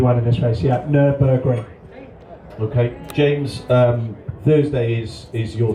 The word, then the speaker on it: Nürburgring: Nürburgring.